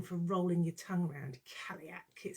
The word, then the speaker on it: Cailleach: talk to you about the kaliak um that's how you pronounce in case you've been wondering all week kaliak and it's rather a good name for rolling your tongue around caliac it sounds quite vicious